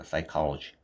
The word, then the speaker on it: psychology: P는 발음이 안 됩니다. 묵음입니다. 그래서 여기 보시면 S부터 나오죠. 그래서 칼러 G 이렇게 되겠죠. psychology. 그렇죠.